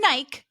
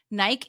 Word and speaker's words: Nike: are British for sneakers Nike is Nike but it's how British people and some other Europeans pronounce it really and yes and to